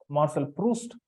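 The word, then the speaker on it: Marcel Proust: proust p r o u s t it's pronounced Marshall proust a famous French novelist Marshall post is known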